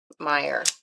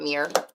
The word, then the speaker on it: Meyer: Meyer. Not Mir. You can say it how you want to.